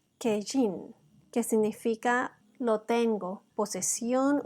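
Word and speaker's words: קין: también podemos notar que el nombre de Caín en hebreo se pronuncia kejin que significa lo tengo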